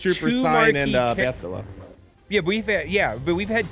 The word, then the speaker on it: Bastila: Bastila.